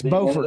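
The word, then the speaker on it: Beaufort: It's Bowfort, not Buford, right? Yeah. No, it's not. That's South Carolina. They're spelled the same. Yeah, it's Bowfort North Carolina. It's Bufort in South Carolina.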